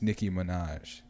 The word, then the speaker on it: Nicki Minaj: this alley you but you said the name wrong it's nicki minaj so she said she